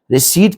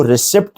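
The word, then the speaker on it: receipt: हम यूज करेंगे रिसी रिसीप्ट के अंदर बेटा पी साइलेंट है इसको रिसिप्ट नहीं पढ़ेंगे इसको रिसीप्ट पढ़ेंगे सही रिसीप्ट स सर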